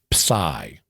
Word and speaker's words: psi: The 23rd letter of the Greek alphabet is pai to pronounce it the Greek way.